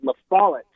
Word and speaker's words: La Follette: It's called La Follette, and I always pronounce Lafayette. That's the one. That's the one. La Follette. That's the one that got me. It wasn't Fayette. It was La Follette that got me.